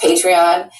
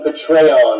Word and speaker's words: Patreon: this is this patreon it's pronounced patreon and it drives patreon nuts not that I'm defending patreon and I'm really I'm done with patreon they are censoring people and 15 people also increasing their accounts but this idiot cannot even pronounce patreon right so listen youtubers happy